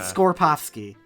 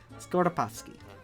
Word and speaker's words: Skoropowski: You said Skorpowski. That's how you said it. Skoropowski.